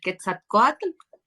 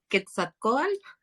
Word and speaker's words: Quetzalcóatl: que le queda como es para no seguirlo pronunciando mal Quetzalcóatl Quetzalcóatl Quetzalcóatl quetzalco cuatro es que ahí a ver